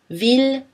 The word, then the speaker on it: ville: On prononce L par contre dans les mots mille, ville, tranquille, Achille et tous leurs dérivés, village, million, tranquillement, etc.